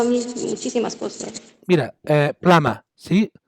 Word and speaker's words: plumber: Mira, plama, ¿sí? Fontanero se escribe plumber, pero se pronuncia plama.